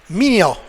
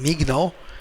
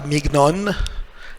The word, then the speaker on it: mignon: So, first of all, we have GN. GN. Il faut prononcer comme NY. Means I must pronounce GN like NY. Instead of saying mignon, it will be mignon. Mignon.